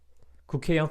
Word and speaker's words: 국회: Like 국회의원 from this local area.